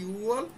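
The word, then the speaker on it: 유월: 6 নম্বর মাসে ইউগোয়ালের জায়গায় ইউওয়াল, আর 10 নম্বর মাসে শিবওয়ালের জায়গায় শিওয়াল।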